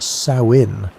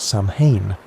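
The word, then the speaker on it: Samhain: Samine was a festival that people pronounced sawin like the female pig, not Sam Hayne, which is what most people think.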